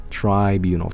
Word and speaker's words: tribunal: know what it was tribunal try think of triangle you know okay last time I